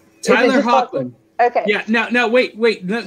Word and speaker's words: Hoechlin: It's Hoechlin. Tyler Hoechlin.